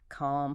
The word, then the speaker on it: calm: So far we're talking about the beginnings of words, but uh consonants melt away in the middle of words, too. Especially the letter L in words like calm, palm, and talk.